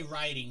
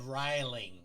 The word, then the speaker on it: riling: She didn't say writing. She said riling with an L.